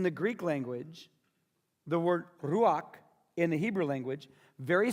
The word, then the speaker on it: ruach: The Hebrew word is the word ruach. And then you spell that R-U-A-C-H.